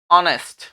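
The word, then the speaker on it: honest: letter होता है consonant लेकिन इसका उच्चारण जब हम करते हैं तो उच्चारण आता है इसका क्या ऑनेस्ट जिसमें शुरू में हम देखते हैं तो कौन सी साउंड आ रही है अ और आ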